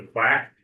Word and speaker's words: CWAC: the left, the CWAC, it's often referred to as the quack, which in the easy way to remember the water one.